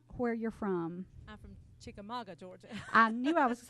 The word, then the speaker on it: Chickamauga: I'm from Chickamauga, Georgia.